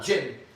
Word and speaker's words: jinn: You know what a jinn is? A what? Jinn.